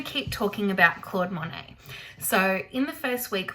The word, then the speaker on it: Monet: And like I said, that's why his name is spelled a little bit strange with that silent T on the end. We don't call him Monet, we call him Monet. And that's because his name is French.